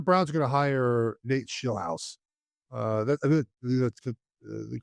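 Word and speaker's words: Nate Scheelhaase: Um it appears the Browns are going to hire Nate Schillhouse. Uh that that's the correct pronunciation.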